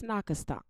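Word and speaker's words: Nacotchtank: And it was that they were spelling us to even say it wrong, because it's not Anacostia, it's Nakastonk.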